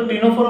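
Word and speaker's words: Ctenophora: हम क्या बोलते हैं, सी साइलेंट होता तो टीनोफोरा बोलते हैं।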